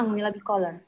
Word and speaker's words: Anguilla bicolor: Anguilla, bacanya Anguilla bicolor.